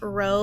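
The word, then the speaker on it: rho: Okay, then we have what's called a population proportion, okay, and that's pronounced row, like rowing a boat.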